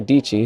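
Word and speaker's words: Dietschy: I finally met Sarah dichi whose name rhymes with peachy and said hi I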